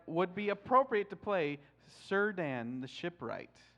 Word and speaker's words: Círdan: you this letter that when you have a letter C before any vowel sound it's a hard K that's why scred an